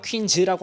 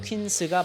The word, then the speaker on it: 퀸스: 자 이제 첫 번째로 퀸스인지 퀸즈인지 헷갈리시는 분들이 많아요 요즘은 잘 안 보이는데 얼마 전까지만 해도 막 퀸즈라고 하시는 분들도 계셨고 이제 영단어 퀸스는 과일 이름에서 따온거고 한글 발음으로 하게 되면 퀸스가 맞겠습니다 그럴 일은 없겠지만 퀸즈라고 했다가 무식하다는 소리를들을 수도 있어요 다른 모니터들에 비해서 주둥아리가